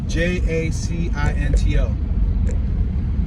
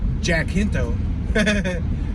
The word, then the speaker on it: Jacinto: passing san jancinto spelled j-a-c-i-n-t-o you could say like jack hinto but i think that's pronounced like with a spanish accent jacinto we got a